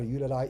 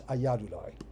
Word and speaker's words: Ayyadurai: I may have been pronouncing that Ayyudurai, it's Ayyadurai.